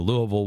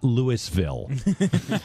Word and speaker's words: Louisville: the love of pete i can pronounce louisville not lewisville um and so i